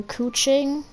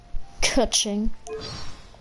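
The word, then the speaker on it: Keqing: hey h you know everybody speaks her name like kaching in the story they called her cooing and yeah her name is actually pronounced caching caching yeah it's caching all right caching uh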